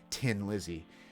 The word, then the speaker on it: Thin Lizzy: I'm trying to pronounce it correctly for the Irish out there. Tin Lizzy.